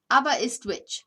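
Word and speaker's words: Aberystwyth: lee says hi all the welsh town is pronounced abba abba it's abba is twitch ah ava is twitch that's the pronunciation what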